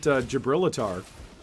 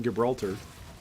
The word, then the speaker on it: Gibraltar: for the longest time I used to pronounce it jabrilater rather than Gibraltar or Gibraltar used to pronounce it gabrilater yeah you know go through